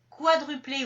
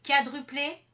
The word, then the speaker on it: quadruplé: Donc, ça peut être quadruplé ou quadruplé, quadragénaire ou quadragénaire.